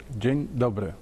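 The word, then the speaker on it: Dzień dobry: should start with the Polish Way by saying Jin do Jin do did I say right pronunciation is very good okay so uh at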